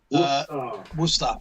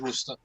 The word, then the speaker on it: Worcester: Worcester. Yeah, at least it's said the same way as we pronounce it. It is Worcester.